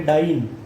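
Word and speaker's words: diene: तो उसका प्रोनाउंसिएशन हम लोग करेंगे डाइन विथ इट्स लोकंड, जो नंबर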